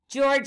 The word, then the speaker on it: George: letter as well and george is spelled g-e-o-r-g-e notice the g is the soft g both times making the sound of j at the zoo george